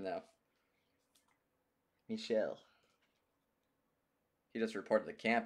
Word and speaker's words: Michel: Michel.